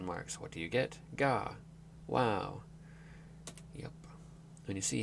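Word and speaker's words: が: The G sound is always pronounced as a hard G. Don't be tempted to pronounce it like a J.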